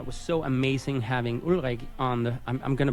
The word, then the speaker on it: Ulrich: So guys, one of the reasons I thought Ulrich, which is, the Danish pronunciation of his name, but Ulrich, the reason I thought